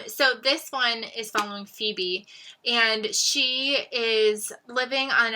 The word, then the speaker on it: Phoebe: e b p-h-e-b-y and i spent most of the book calling her febbie by accident and then i realized halfway through that it's phoebe i felt really really